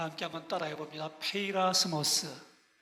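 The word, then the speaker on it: πειρασμός: 페이라스모스. 발음 좋으세요. 다 함께 크게 페이라스모스.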